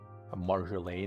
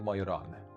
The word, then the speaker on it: Majoran: When I named the alternative name, he even like corrected me that I have like what's the name, like the accent on the wrong letter there. The pronunciation was wrong. Marjolaine it is? It is Majoran.